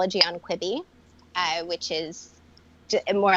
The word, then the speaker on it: Quibi: Is that how it's pronounced? Quibi.